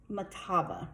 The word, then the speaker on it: Mahtava: song that uses a lead sheet and it's pronounced Makabe it's written by a friend of mine named